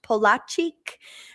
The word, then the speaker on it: Polaczyk: It is pronounced Polaczyk, and we'll go over it when we come back.